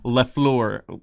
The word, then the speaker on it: Le Fleur: whole line called Golf Le Fleur. You know, Lefleur. So it's a French pronunciation of the Golf the Flower.